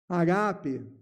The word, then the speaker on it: agape: Agape. Vamos falar com a pronúncia certa? Agape. Esse segundo A tem que sair da garganta.